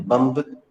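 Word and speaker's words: bomb: आमतौर पर जब आखिरी में बी आता है दोस्तों तो वो साइलेंट होता है।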